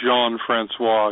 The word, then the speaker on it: Jean-Francois: I'm trying to do it as French as possible. Ricky Jean-Francois. It is Jean-Francois, yeah. So in case you want to say it right before you... We Americans say Jean, but it's Jean. Chuck Pagano called him Ricky Jean.